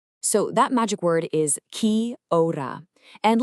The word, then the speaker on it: kia ora: So, that magic word is kora. And let's get the pronunciation right. It's kia ora.